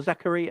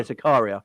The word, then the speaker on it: Zakaria: Is it Zakaria or Zachary? I can't remember how you pronounce his name now. Yeah, Zakaria.